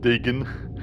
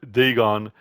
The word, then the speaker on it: Dagon: about thulu all right so Deon no it's pronounced Deon not denan so Deon was the main deity of the